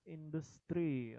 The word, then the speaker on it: industry: Bukan industri bacanya ya. Apa bacanya nih? Industri. Industri. Ya. Coba semuanya industry. Industry. Oke. Industry. Jadi dia Try. tidak sesuai dengan kosakata Indonesia ya. Kalau Indonesia kan industri. Tapi kalau bahasa Inggris industry.